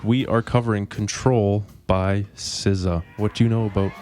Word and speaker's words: SZA: in the car, and I call her Scissor. I overpronounce it, and then she cringes a little bit, and then I feel good. But I know it's SZA.